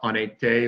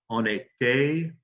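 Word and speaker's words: en été: say that ani there now notice when we say uh on a day or another or ani there we go we're going to make the liaison that's the link between the n in and the vowel of the next word the name of the season so on a day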